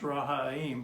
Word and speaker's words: Ram: Don's last name was Ram, but it should be pronounced Rahaim because his father was Arab.